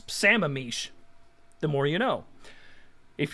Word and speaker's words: Sammamish: and is also useful the third one is pronounced sammamish see i move that